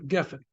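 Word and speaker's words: גפן: Geffen should be, the accent's on the first syllable, geffen.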